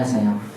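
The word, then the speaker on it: سيارة: Pakai tamar ya. Tapi dibaca sayyara.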